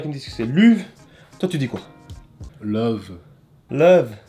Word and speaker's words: Luv: Ouais, si l'artiste dit que c'est l'uve, ben c'est l'uve.